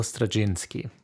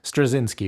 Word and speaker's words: Straczynski: Amazing Spider-Man Omnibus volume one by J Michael strachinski or strzinski which would be the US uh pronunciation so my first thought when cracking this